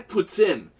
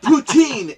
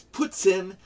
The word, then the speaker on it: poutine: it there because it's made that weighs I puts in poutine everybody says this routine is not the proper pronunciation it's puts in and it does not taste like puts in